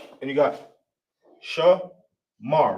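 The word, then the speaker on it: שמר: So you got sha, you got sha right here, right? It's the complete form of the letter sha. Then you got ma, ma. Then you got ra. Obviously, with no a right there, you obviously know that this is connected.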